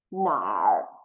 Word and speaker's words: 哪儿: It's actually mixed together, become nar. So the pronunciation will be 哪儿.